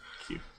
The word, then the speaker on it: queue: silent letters yeah q-u-e-u q-u-e-u-e that's what it is q okay it's q but it's just q it's four sounds i thought it was